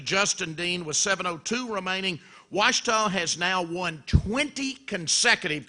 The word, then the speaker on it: Ouachita: Now, there's only one undefeated team left in the Great American Conference, and that's 4-0 Ouachita. The Tigers, Coach, that's spelled O-U-A-C-H-I-T-A.